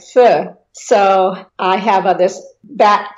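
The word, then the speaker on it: 福: symbol of happiness, because the happiness in Chinese is pronounced fu, and bat is also pronounced fu.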